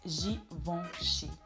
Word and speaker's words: Givenchy: So the E in the middle of the word in French is mostly pronounced like I don't even know how to explain it, but it's not an open E. It's not Givenchy or Givenchy, but it's Givenchy.